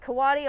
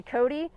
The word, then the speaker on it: coati: different colors and so there are multiple ways you can pronounce it um a lot of people say kawaii a lot of people say cody there really is no